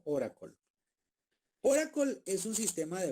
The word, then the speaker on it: Oracle: Aquí dice Oracle, pero se pronuncia como Oracle.